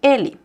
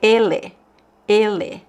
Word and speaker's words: ele: And you also notice that the last vowel here in ele is not pronounced as open or closed. It's actually pronounced as another vowel, right?